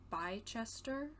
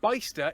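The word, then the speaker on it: Bicester: uk are pronounced place-wise i'm assuming like by chester okay i was close yeah bysta isn't too far away got out ah am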